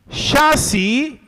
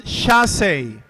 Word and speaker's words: chassis: So we have your word here is the word chassis. Chassis. The base frame of a car, carriage or other wheeled vehicle is chassis. Alternate pronunciation. Shassi. Shassi or shassi.